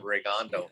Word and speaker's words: Rigondeaux: get right into that regando fight yeah okay we gotta pronounce his name right versus rig indiana regando ring india rick and dion rigging diana yeah well yeah we'll jump